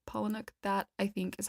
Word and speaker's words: Palahniuk: Fight Club by Chuck Palahniuk Palahniuk paumanok that's how you say it Palahniuk that I think is